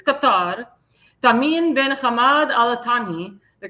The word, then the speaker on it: Qatar: That's how you say Qatar, not Qatar. Qatar. That's how that's how the Arabs pronounce it. It's Qatar.